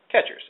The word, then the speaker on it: QuEChERS: different ways of saying catchers well it is pronounced as catchers as you can see on the screen here